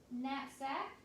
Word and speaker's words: knapsack: It's spelled with a K-N for the N sound, knapsack.